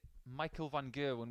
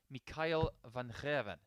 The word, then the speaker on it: Michael van Gerwen: world number one's name in Dutch it actually sounds a bit like Nathan surname girvin it's more like Kevin actually but that's a missed single 80. yes if you see it Michael Van gerwen which is the English